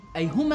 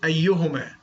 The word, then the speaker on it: أيهما: أي هما أهم. ينقد البخاري ومش عارف ينطق كلمة أيهما، بيقولها أيهما. نفسي أيهما أحق بالمايك في اللحظة دي.